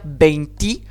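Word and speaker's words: veinti: Alors, quand on passe au 21, le E final de beinte va s'affaiblir en I. C'est là qu'on va dire beinti.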